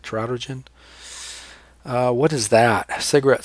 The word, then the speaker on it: teratogen: word you should know a teratogen or terror teratogen that's how I say it trout urgent what is that a